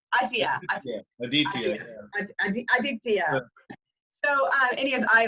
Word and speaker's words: Aditya: Aditya.